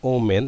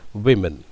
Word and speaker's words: women: Don't say oh men, it's women.